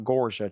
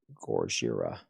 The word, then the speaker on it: Gojira: Not Gorja, Chad. How do you spell that? There's an I in there somewhere. Gojira.